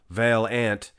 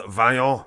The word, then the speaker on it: Vaillant: Olympia event 2022, guys, it is a stacked lineup, and Antoine Vaillant, the big French man, It's not Vaillant. It's Antoine Vaillant. You gotta say it properly like the French man, Anyway.